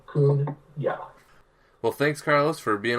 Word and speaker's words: Cunha: Just like you said, talking about a raccoon. Cunha.